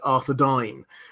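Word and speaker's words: Arthedain: also my favorite one it's uh it's technically pronounced arod dine um but there's um one of the the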